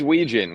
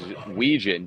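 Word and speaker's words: Wetjen: It is Ouijan. Despite what it looks like, there's at least one silent letter in that last name and there's only six letters.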